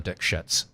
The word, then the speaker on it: Dikshit: And it's like, from what I understand, that was the way you pronounced it. That was her name. Dikshit. Yeah. You were told to pronounce it differently. Yeah. You went with the real name. The official pronunciation was Dikshit.